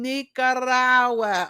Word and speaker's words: Nicaragua: me all the way from Nicaragua y'all from Nicaragua okay am I saying it right am I